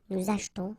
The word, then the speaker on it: achetons: After that, nous achetons, vous achetez. Remember this here is silent or mute.